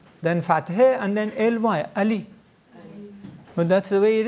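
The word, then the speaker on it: علی: We just pronounce it with alef, then fathe, and then ly, Ali.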